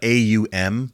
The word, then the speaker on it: Aum: like you really spell it AUM, but Okay.